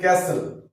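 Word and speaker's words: castle: আছে পরে গুলো তাহলে টি silent before L এন্ড এস তাহলে ক্যাসেল অর্থাৎ এল এর সামনে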